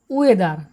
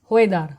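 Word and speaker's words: whether: এবার দেখো রয়েছে ওয়েদার। এটা আমরা উচ্চারণ করে থাকি প্রায় এভাবে, হো এদার। আমরা বলে থাকি হোয়েদার, হোয়েদার, কিন্তু তা নয়, ওয়েদার।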